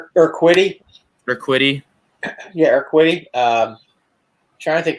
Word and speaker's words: Urquidy: Urita, or however you say his name. Urquidy.